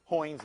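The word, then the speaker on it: Heun: The shortest name is Hoynes method. But nobody pronounces that correctly. So that's Hoynes method.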